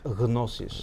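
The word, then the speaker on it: γνῶσις: Because are you saying the word that I pronounce as gnosis? Yeah. Okay. In Greek it's pronounced gnosis. Right. Yeah. Gnosis. There's no phoneme like that in English.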